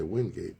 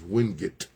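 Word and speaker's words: Wingate: A lot of people say Windgate, but I was told that the correct pronunciation is Windut.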